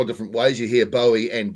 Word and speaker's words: Bowie: It is like the knife. People say you hear it see it said a couple of different ways. You hear Bowie and Bowie.